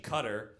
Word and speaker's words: Qatar: Cambodia, Phnom Penh, Qatar, it's actually Qatar, you fucking Islamophobic bitch.